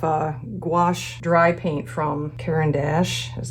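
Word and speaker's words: Caran d'Ache: nice set of uh gouache dry paint from karen dash is how you say that and i thought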